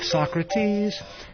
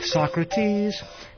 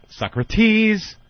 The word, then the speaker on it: Socrates: and Socrates Here Comes Professor Anthony I love and they have to put the accent on the wrong syllable too Socrates just to make it Rhymes yeah why it works